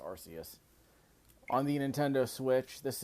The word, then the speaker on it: Arceus: I believe it's pronounced Arus on the Nintendo Switch.